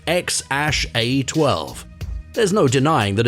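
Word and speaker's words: X Æ A-12: a baby boy together and his name is pronounced x-a-12 there's no denying that it's a very curious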